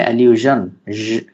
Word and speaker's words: allusion: অ্যালিউশন বলে থাকি, বাট সঠিক প্রোনাউন্সিয়েশন হচ্ছে অ্যালিউশন, জ টাইপের একটা সাউন্ড আসে এগুলোতে।